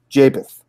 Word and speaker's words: Japheth: I can't pronounce his name. Japheth.